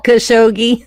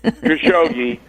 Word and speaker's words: Khashoggi: Look, the Jamal Khashoggi, how do you pronounce his name? Jamal Khashoggi. Khashoggi.